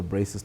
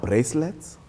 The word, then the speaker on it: braces: just close off the braces topic by just emphasizing also to our audience that many people always mispronounce and say i want bracelets i want you know they are braces and oh doc can